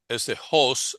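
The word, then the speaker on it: ὅς: que pues es traducción de este hos aquí se pronuncia hos por este signo aquí que indica que es pronunciación ruda.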